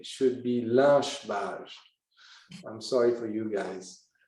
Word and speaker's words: Lynch-Bages: But the proper pronunciation should be Lynch-Bages. I'm sorry for you guys, because Mr. Lynch insisted that his name would be pronounced à la française, in a French way.